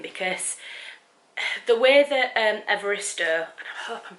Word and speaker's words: Evaristo: the way that um evarista i hope i'm pronouncing her name right i'll have to um so i've just had a look online and the way you pronounce her name is bernardine evarista so i was saying